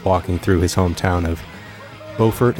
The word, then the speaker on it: Beaufort: through his hometown of Beaufort is that how it's pronounced I pronounced it Buford but I believe in the movie they could they call it Beaufort but Beaufort Beaufort tomatoes tomatoes it actually begins that